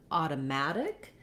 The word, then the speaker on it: automatic: In the word automatic, the main stress is on the mat syllable. And so that letter A has the ah sound like in the word at or cat.